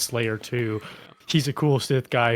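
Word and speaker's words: F5L4Y3R 2: sigfig in the community named F5L4Y3R space 2 parenthetical pronounced Slayer 2.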